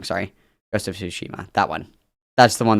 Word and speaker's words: Tsushima: Rest of Tsushima.